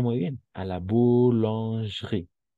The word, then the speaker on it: boulangerie: Y tal vez como tip, las E cuando están entre dos consonantes, prácticamente no se escuchan, son como mudas. Entonces, como tip, sería directo a la boulange y directo vamos a la R, porque digamos, no existe esa E.